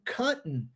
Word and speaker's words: cotton: Nas duas palavras, button e cotton, você é obrigado a omitir esse som, porque essa é a forma certa de se pronunciar.